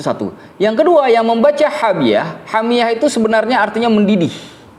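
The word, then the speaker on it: حامية: Tapi qiraahnya Ali bin Abi Thalib dan Abdullah bin Mas'ud itu bukan hamiah, tapi hamiyah, seperti kita baca di surah Al-Qari'ah ya. Narun hamiyah. Nah, itu bacanya hamiyah, bukan hamiah.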